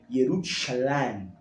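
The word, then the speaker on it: ירושלים: Jerusalém, né, em hebraico, se pronuncia Yerushalayim, que é Shalem, uma designação, uma variação de Shalom.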